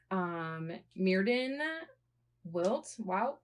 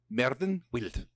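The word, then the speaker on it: Myrddin Wyllt: So he as in Geoffrey, the creator of Merlin, based him on two people, Merlin Wilt. Merlin Wilt. That's how they say it in the Welsh people say it.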